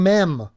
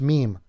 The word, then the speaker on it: meme: crazy Josh how could you go through your life not knowing how to pronounce meme how how Josh godamn it you're on the internet you've never heard somebody say meme and you're not even in French Canada Josh where meem would be the pronunciation if you're a French dude you're an Edmonton and